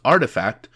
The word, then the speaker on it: RTFKT: blend culture and gaming rtfkt pronounced artifact was founded in january